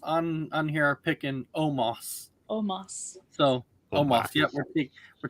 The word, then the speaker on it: Omos: out almost excuse me that is not how you pronounce my name i was like wait you're saying his name wrong it's omas not not almost you almost so i'm